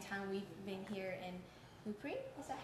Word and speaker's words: Le Puy: We've been here in Le Puy, is that how you say it? Le Puy, yes.